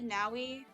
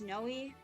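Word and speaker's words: Neimi: Ni pronunciation. I've always said Naui, but I've heard people say Noi as well. It's Noi.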